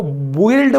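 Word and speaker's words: build: तो क्या होता है, आप इसको बिल्ड बोलोगे क्या, नहीं, आप ये यू जो है इसको साइलेंट रखोगे, क्यों, क्योंकि यू के बाद हमारा वावल लेटर आ गया।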